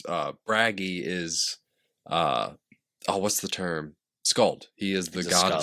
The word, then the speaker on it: skald: Skald. He is the god of skalds. Yeah. Skald. Skald. Yeah. Skald. Yeah. A U pronunciation of the A. Like the romantic A, the skald.